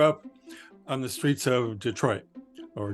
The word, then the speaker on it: Detroit: First, I'd like to begin by saying that I grew up on the streets of Detroit, or Detroit, as we would call it, the French pronunciation.